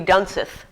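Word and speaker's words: Dunseith: gosh you know what this is german so d-u-n-s-e-i-t-h so that means you have to pronounce it i so it would be done sith so is that right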